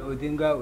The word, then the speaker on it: Odinga: been asked to explain why Bears one name pronounced twice yeah I'm called odinga with Inga because he's a family name and